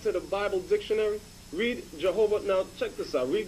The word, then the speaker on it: Jehovah: Jehovah there it says Jehovah Hebrew yahovah or more correctly yahava okay so they know the lord's name so then thereby examining it when we go look look at the name Jehovah the three syllable breakup the tetragram the Y the H and the W and H is pronounced yahawa now let we're going